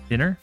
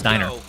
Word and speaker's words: Diner: seen a few streamers mispronounce Deadpool's uh dinner I am uh it is the the restaurant P oh dead pool's Diner gotcha um and so I think I'm I've been one that said dinner KN turn left we